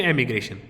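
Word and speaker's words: emigration: Pronunciation याद रखो, इमिग्रेशन एंड एमिग्रेशन।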